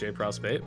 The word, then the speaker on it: JProsp: All right, so or JPRO, technically pronounced JPROSP, but nobody does that anyway, so just call me essentially.